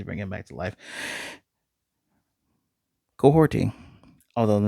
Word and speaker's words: Kahhori: Kahhori, although the name is spelled like Kahhori, it's Mohawk.